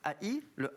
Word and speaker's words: ai: L'ail, A-I, le A et le I se prononcent ail en provençal, donc voilà.